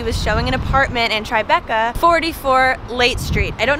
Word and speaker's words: Tribeca: It's actually called Tribeca, and it's often spelled with the T, B, and C capitalized because it's an abbreviation for the triangle below Canal Street.